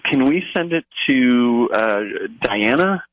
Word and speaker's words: Dianna: Can we send it to Diana? It's spelled Dianna.